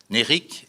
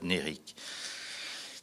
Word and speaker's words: Nérik: Là aussi, comme ça se prononce, N et accent aigu, R-I-K. Nérik est une ville plutôt